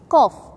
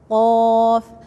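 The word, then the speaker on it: ق: Qaf, you have to make it deeper. Don't say cough. Cough. You pronounce from the tongue or the middle or the beginning of the tongue. No. You have to say, you feel that it's touching the tonsil.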